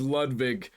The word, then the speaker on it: Ludwig: And I can tell that your chat's just as I love how he says Lvig like the original German pronunciation.